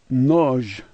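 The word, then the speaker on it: нож: The H sounds like an N, and O like O, and the last letter is a ZH sound like noj, noj.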